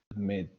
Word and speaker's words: admit: We need to double the consonant second word, admit. Because the stress is in the second syllable.